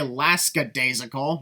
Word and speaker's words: lackadaisical: Morrow didn't say lackadaisical, Nigel. It was clearly lackadaisical. When did you hear an S sound at the beginning?